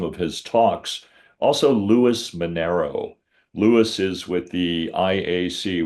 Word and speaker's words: Minero: And Lewis is spelled Luis, and it's Minero.